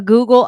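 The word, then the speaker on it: googol: AO Google PLA and they spell it goo G o o g o l is the the way that you spell the number Google and it sounds like a ghoul are these devices monsters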